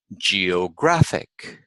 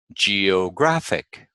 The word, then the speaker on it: geographic: But all you have to know is that we stress the second syllable from the end in words ending in IC, SION, and TION. Geographic, geographic.